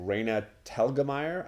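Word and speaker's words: Raina Telgemeier: kid graphic novelist named Reyna talgamite I think is how you say it she's got a bunch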